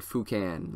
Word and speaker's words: Foucan: You can find him on Instagram, Sébastien Foucan, SEB Seb, or Sebastian with an E, and then Foucan, like Toucan Sam, but with an F, and it's pronounced Foucan.